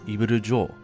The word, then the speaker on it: Ibiru Jo: course, its Japanese name, which is phonetically, literally, Evil Jaw, Ibiru Joe. Now, Joe doesn't really sound like Joel, like your jaw, but that's just the way that it's pronounced in Japanese.